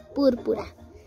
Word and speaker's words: púrpura: Búrbura. Búrbura. Jalina lo dice bien. Su color favorito es búrbura. Y no se dice así, es púrpura.